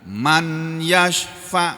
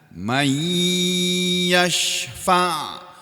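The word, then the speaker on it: من يشفع: sukun ketemu ya, ini dibaca idgham. Jadi tidak boleh dibaca man yashfa', enggak boleh. Kalau Al-Qur'an enggak boleh, kalau bahasa Arab boleh. Kalau bahasa Arab sehari-hari boleh, tapi kalau bahasa Al-Qur'an enggak boleh. Jadi membacanya mai dalam mendengung, ini idgham ya.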